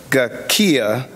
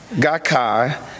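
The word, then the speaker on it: Soka Gakkai: SGI, known as Soca, and excuse me for pronouncing the name if I mess it up, Soca Gakia, Gakkai, as an American Buddhist Society for Value Creation, dedicate to peace, culture, and education.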